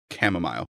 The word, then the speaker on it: chamomile: Chamomile. Yes, that's it. Which is not three, that's four, right? It depends if you say my-yol or mile.